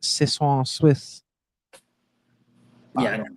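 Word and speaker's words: soixante-six: And they in French, it's pronounced Sis Swiss.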